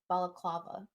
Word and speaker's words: balaclava: It's called Balaclava? What? I'm trying. It's the proper word for a ski mask. It's called a balaclava.